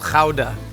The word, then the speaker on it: Gouda: This is called ka, not ga.